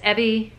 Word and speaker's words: Evie: starts over Melinda Holmes and it's Evie rhymes with Chevy I want to say